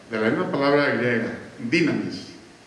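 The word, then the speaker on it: δύναμις: la misma palabra griega dinamis o dunamis que es pronunciación correcta de la dinamita de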